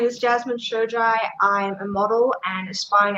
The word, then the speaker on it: Shojai: right i i was like oh it's jasmine shojai and i'm like i know there is no way that's how you pronounce her name but i was right awesome